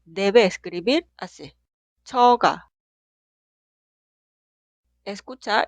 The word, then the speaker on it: 처가: Las dos sílabas suenan igual. 저, 처가.